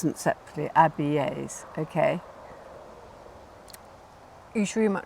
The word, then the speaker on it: Abies: And you pronounce every vowel separately. So it's spelled A-B-I-E-S, right? And you could think it's not it might Abies. be Abies, exactly.